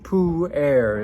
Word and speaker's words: pu-erh: because it's a fermented food and it's format pronounced poo air it's actually spelled PU e r HT and